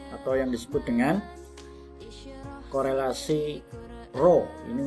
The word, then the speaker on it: Rho: Kita akan membahas pada pagi hari ini adalah uji korelasi Spearman atau yang disebut dengan korelasi Rho. Ini membacanya adalah Rho.